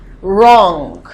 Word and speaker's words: wrong: Wrong. So the V is silent. Wrong.